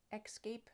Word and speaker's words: escape: starts the same and people will be saying escape again an added X or k sound there at the beginning but it is spelled e s c-a-p-e and so that should be Escape a sample sentence the